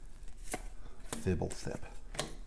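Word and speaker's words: Fblthp: Fibblethip.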